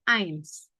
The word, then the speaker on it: eins: Jadi, ada tulisan E i dibacanya selalu ai. Contohnya apa nih? Tulisannya, bacanya eins artinya satu.